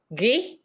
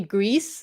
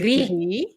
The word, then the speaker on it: gris: So the letter I in French is actually pronounced E. Gris. Yes. Gris. Which is why when a lot of people say Greece, you don't say the S, right?